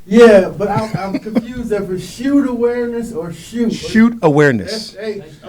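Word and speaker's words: chute: we we kind of spell it differently in football you know like one of those things but we are c h u t shoot awareness okay okay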